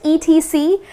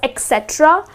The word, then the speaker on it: etc.: Um that's the short form of it etc. people tend to pronounce it as etc but that's incorrect. The correct pronunciation is etc which means and so on.